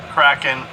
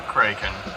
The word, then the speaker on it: Kraken: Now this one I've heard pronounced Kraken or Kraken. I remember as a child as Kraken because in the story I heard it was described as being named by the sound it made as it broke the ship, as